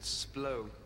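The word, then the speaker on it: Splott: Splot. Splot? Splot? I believe estate agents pronounce it splow.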